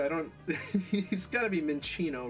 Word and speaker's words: Minccino: He's gotta be Minccino, right? Like, he's Italian. Like, the 2 C's are pronounced like a CH.